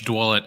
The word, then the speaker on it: Dwulet: Please, I didn't even attempt to pronounce your last name. Yeah, it's Dwulet.